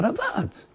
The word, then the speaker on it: Ravad: “The RAVID (Ashkenazi pronunciation)”. What RAVID?? The RAVAD!